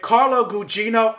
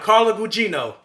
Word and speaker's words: Carla Gugino: the same thing with this movie like if Carlo Gugino I didn't learn how to say her name hold up I just looked it up so I was right carla Gugino where was I oh yeah if carla Gugino